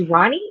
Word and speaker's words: Romany: Okay, it's Ronnie. But why is his name spelled like No, no, Roma?